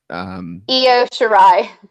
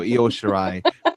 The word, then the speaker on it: Io Shirai: Next up, you had Toni Storm against I don't know how to pronounce her name. Io Shirai. There you go, Io Shirai in the championship for the Mae Young Classic.